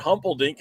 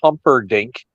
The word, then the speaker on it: Humperdink: You butchered that one. Big Daddy Dink is Sir Oliver Humperdink. Okay. Not Humpelstein or whatever you call him.